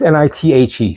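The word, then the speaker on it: Nighte: Now, I don't know if it's just night with an E at the end, but it's Nithe.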